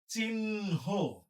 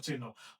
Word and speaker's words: চিহ্ন: আমরা দেখতে পাচ্ছি যে ন আমরা আগে পড়ি হ আমরা পরে পড়ি তাইলে এখানে হ এবং ন এর মধ্যে কোনটা কোনটার উচ্চারণ আগে হবে নয় উচ্চারণ আগে হবে তাহলে কি লিখতে হবে আমাদের এটার উচ্চারণ লিখতে হবে চিহ্ন চিহ্ন এটার উচ্চারণ আমরা লিখব চিহ্ন এরপরে বয় সে জফল আছে